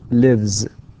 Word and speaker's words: lives: لاحظ كيف أنطقها هنا lives with z and runs.